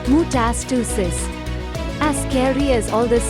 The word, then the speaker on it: metastasis: different tissue or organ this is called metastasis pronounced mutasticism as scary as all this sounds most cancers